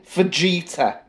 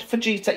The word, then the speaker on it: fajita: I'll find it's pronounced fajita? Yeah, well, I'm English and I pronounce a J as a J.